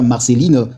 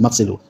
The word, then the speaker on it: Marcelo: Alors dire déjà Marcelline, ce n'est plus Marcelo. Donc il faut bien prononcer le nom du pasteur. Son nom c'est Marcelo.